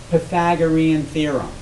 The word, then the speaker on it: Pythagorean theorem: you're talking about all right so this is pronounced Pythagorean theorem it was it's named after a person named